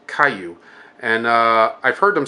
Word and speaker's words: kaiju: known as they're referred to as Caillou spelled ka i Ju which sounds like a Jew or kaiju but it's actually pronounced with a neat sound J's are pronounced